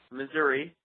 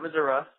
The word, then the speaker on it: Missouri: would also like to bring up that it's pronounced Missouri not Missoura we're civilized and and that Missouri was the